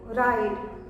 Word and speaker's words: ride: और इसमें जब हम ई ऐड करते हैं तो वो खुद तो साइलेंट रहता है पर प्रोनाउंसिएशन को क्या किया उसने, बदल दिया, वाउल साउंड को लॉन्ग कर दिया।